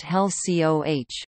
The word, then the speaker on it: HELCO: In 1970 HECO also acquired the Big Islands Hilo Electric Light Company, later to be renamed Hawaii Electric Light Company, abbreviated HELCO and pronounced HELCOH.